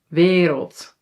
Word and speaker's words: wereld: And then lastly, this sound, dubbele a is usually pronounced long like a but sometimes when it's in front of an l or r yes, it sounds a little bit more like i.